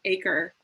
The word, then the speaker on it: 8CRE: It's an acronym starting with the number 8, followed by CRE, pronounced ACRE.